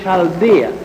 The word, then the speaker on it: Chaldea: Abraham was born in the city of Ur in Chaldea. It is spelled U-R, Ur, and Chaldea is spelled C-H-A-L-D-E-A.